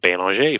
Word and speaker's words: Belanger: Uh Michelle Michelle actually she pronounces her last name Bano from what I understand.